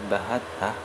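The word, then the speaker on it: بهته: Tentang bahattah, ya, kalimat yang terakhir faqad bahattah, berkata Imam Nawawi di dalam syarah Muslim untuk, ya, syarah Nawawi untuk Sahih Muslim, membacanya dengan memfathahkan huruf ha, bahattah, mukhaffafatun, bahattah, tanpa ditasdid.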